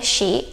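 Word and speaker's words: し: Tapi karena ini cara bacanya pun bukan si, tapi ada haknya ya, shi.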